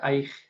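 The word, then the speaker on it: ܐܝܟ: ini seperti kalau awalnya ini kan ada alaf ya dibaca a. Nah, ini ada double sua gimana? Nah, maka kita baca aik gitu ya. Aik ini huruf yod dan huruf kaf di akhir aik seperti tulis ini ya ini aik.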